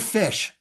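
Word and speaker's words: ghoti: no it's the word fish fish fish the GH as in tough the O as in woman and the ti as in action fish fish I don't you're going but that's not fish GH as in tough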